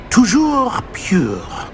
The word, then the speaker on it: toujours pur: I order you to pronounce it for me. Oh, Master knows that Scrope's French is most pitiful. Very well. Toujours pure.